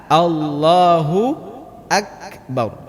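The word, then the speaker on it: الله أكبر: kesalahan Kenapa sering luput allahuakbar ini karena mulut kita tidak jelas pengucapannya pada hahaha allohu akbar allohu akbar allohu mulut kita tidak jelas terbukanya yang kedua al-fatihah ini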